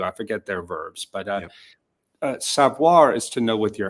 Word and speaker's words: savoir: going to have to help me with the pronunciations because my French is notoriously bad. But you talk about the difference between savoir and connaître.